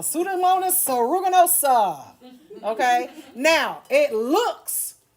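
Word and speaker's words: Pseudomonas: can say it the sudamonus the P is silent sudamonus Aruganosa.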